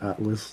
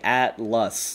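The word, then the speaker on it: Atlus: But Lilith and Atlas are based off of mythological characters.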